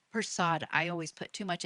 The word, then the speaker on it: Persaud: Persaud. Persaud.